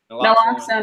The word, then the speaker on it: Naloxone: What's the right pronunciation for it? Naloxone And Suboxone.